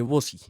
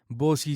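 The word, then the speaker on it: Vozy: Para eso existe Vosi.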